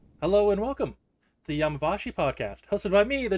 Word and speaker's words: Yami Shibai: have a look it's time for yamashi did I say right yeah you said it you said it right that time weird even when I